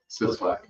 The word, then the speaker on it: Sislak: Sislak? Sislak. Like it's spelled.